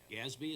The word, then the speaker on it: GASB: got a question about gasbo or gasby what which was Gatsby is what you're saying how you pronounce it yep the governmental accounting standard sport yes okay and they changed it from 87 to 96.